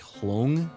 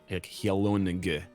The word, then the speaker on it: hyelonge: So hlong, like the word long, right? But instead, what we want is like the N and G pronounced separately, like hyelonge, like nug kind of thing, right?